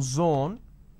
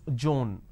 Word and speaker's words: zone: pronounce this as pays instead of pronouncing Zone they pronounce this as Joan now zone is different